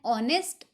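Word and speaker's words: honest: ही इज़ एन ऑनेस्ट मैन। ऑनेस्ट spelling H से started है बट H silent है, हमें साउंड सुनाई दे रहा है ओ का, ओ साउंड है और ओ एक वोवल साउंड है, इस वजह से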